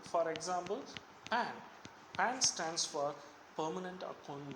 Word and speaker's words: PAN: The acronym is different, but here the combination of the words should be pronounced as a single word. For example, PAN.